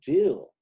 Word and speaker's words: Dill: to talk about db dill his name rhymes with av hill d.b dill db dill